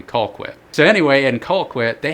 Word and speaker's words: Colquitt: actually in Georgia in Colquitt I believe I'm saying that right it's called mighty Colquitt you might have to say a southern accent in order to say it properly I think it might be Colquitt so anyway in Colquitt